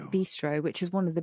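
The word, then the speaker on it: bistrot: that's one possible because one sometimes sees bistro as in the restaurant or the spelt with a t on the end b-i-s-t-r-o-t yes b-stroke that's how it is in french and i think we dropped the t very good i think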